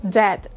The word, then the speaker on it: debt: Debt and not debt.